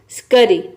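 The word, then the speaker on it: scurry: इसमें भी देखिए एस सी के बाद यू आया है, इन तीनों लेटर में से कोई लेटर नहीं आया है। तो यहाँ पे हम एस सी को आधा स और क के साउंड में प्रोनाउंस कर रहे हैं, तभी इसका प्रोनाउंसिएशन हो रहा है स्करी।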